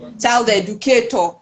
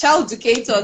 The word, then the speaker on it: Childucator: Most people would say child educator. I'm like, no, it's not child educator. It's child educator. Like there's no edu in it.